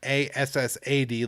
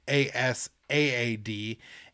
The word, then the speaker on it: Asaad: It's not Assad like Bashar al-Assad, but Asaad.